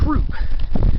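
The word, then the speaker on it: Throop: back you got troop it's actually pronounced troop like a soldier a troop but it's spelled like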